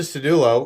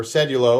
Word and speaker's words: Sedulo: and i said oh there's the cedullo or cedulo or however you want to say it right the gerber